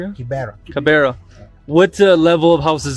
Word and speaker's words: Kibera: So in this Kibera, am I pronouncing it right? Kibera? Kibera.